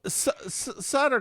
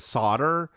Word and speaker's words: Sutter: that Louisville Slugger Henny yes Queen yes well Sutter comes up and so it people keep pronouncing it solder but I looked up it's spelled s-u-t-tr it's